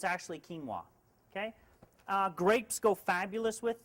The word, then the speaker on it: quinoa: Now quinoa is a funny one because it's never pronounced the way it's spelled. We all want to say quinoa, but it's actually quinoa.